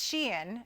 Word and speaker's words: Shein: about a company called Sheen okay she I called them Shine for a really long time it's Sheen is the pronunciation s-h-e-i-n they're a fast